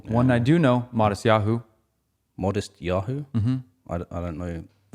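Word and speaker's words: Matisyahu: No, but it's pronounced Modest Yahoo.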